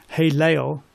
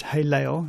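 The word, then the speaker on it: הֵילֵל: you'll get that word hey Leo in it sounds this is how you say it hey Leo it's not how you spell it in Hebrew and the Lucifer is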